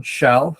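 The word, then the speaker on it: Kjell: my name is shell my my last name even though spelled KJ is pronounced sh um I'm the director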